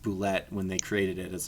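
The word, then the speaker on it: Bulette: no we're not we're gonna print we're gonna pronounce it boulette and anyways even though it's ballette it looks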